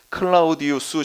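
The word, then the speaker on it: Claudius: 나왔나 그렇게 나왔어요 클라우디오가 근데 원래는 이게 로마 발음이 때문에 클라우디우스 해야 돼요 우스가 로마 발음이에요 클라우디우스 시대까지 이게 지금 4년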